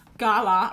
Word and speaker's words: galah: Gala rhymes with far.